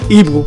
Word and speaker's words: Igbo: That's how you pronounce Igbo.